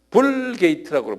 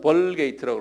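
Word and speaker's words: Vulgate: 그 라틴 성경을 뭐라고 그러냐면 불게이트라고 불러요. 불게이트. 이거는 우리 크리스찬들이 알 필요가 있어요. 한번 발음을 좀 보세요. 불게이트 그래요. 한국말로는 벌게이트라고 그러는데요.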